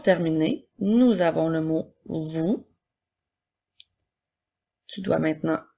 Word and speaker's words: vous: nous avons le mot vous qui doit maintenant épeler le mot vous sans oublier la lettre muette à la fin alors c'est maintenant le